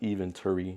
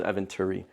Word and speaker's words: Eventuri: It's not Eventuri. I think it's Eventuri.